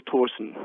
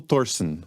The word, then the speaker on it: Thorsen: your partner your founding partner was a gentle Torsen yes that's correct did I pronounce that correctly almost it's cute little Torsen gentle Thorsen okay I'll work on that one your firm